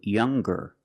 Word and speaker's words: younger: When we change these adjectives with ER or with EST, we're going to pronounce the G sound, the hard G. So it's younger, ger, with a G sound.